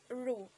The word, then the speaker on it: roux: u x so in kokiri terms it is pronounced as ru okay so later on we will discuss what